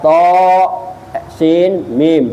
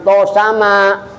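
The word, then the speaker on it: طسم: Ada to, sin, mim. Jangan to sama. Jangan to sama Bu. To, sin, mim.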